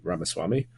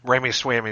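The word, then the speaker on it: Ramaswamy: be Elon Musk and VC ramaswami or yeah I believe that's how you say his name Ramy swamy is what I usually say but yeah it's uh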